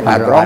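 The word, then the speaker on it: Padrão: Tulisannya Padrau, bacanya Padrong.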